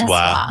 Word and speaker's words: Nisswa: It's Nisswa. You always Whatever. pronounce it wrong. It's Niswa.